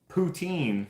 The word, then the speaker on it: poutine: this is just in Canada I'm assuming cuz poutine is a is a Canadian thing it's actually pronounced poutin which I freaking hate I didn't